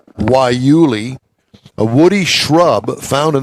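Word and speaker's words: guayule: a rubber made from guy Yul pronounced why Yuli a woody shrub found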